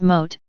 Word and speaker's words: M.O.A.T.: Texas contains 254 counties MOA dot T pronounced mote monumental outrageousness around Texas